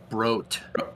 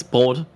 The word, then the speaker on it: Brot: Broat. Broat. It's Brot, actually, but yeah.